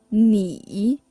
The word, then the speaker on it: 你: Distinguish it with 你 whose pinyin is N-I, 呢一你.